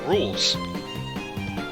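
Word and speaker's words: Rouxls: between bob after bach it's pronounced rules finally we actually get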